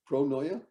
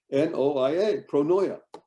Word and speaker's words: pronoia: people here know what the word pronoia means pronoya how do you spell it even well pronoia p-r-o-n-o-i-a pronoya you won't find a one in a thousand